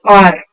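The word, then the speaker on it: hour: an like see an R why are we using r r where is this h o r we don't say how we say R when H is silent so this pronunciation is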